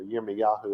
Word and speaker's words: Yirmiyahu: say it right, 2:2, or Yirmiyahu, if you want to say his name right.